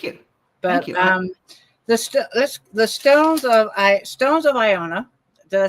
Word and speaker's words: Iona: But the Stones of Iona, did I say it right?